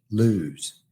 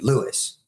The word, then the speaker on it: Lewes: And back then, if you were local, you called it Lewes.